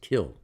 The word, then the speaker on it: kiln: brick kill an out spelled kiln but it's pronounced kill oven and let mache